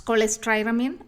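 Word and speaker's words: cholestyramine: This actually the drug name choleistyamine it's like cholesterol that's how we pronounce cholesteramine or choleisty.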